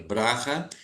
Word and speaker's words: Bracha: ela adotou que é escreve com ch mas pronuncia braha e eh ela não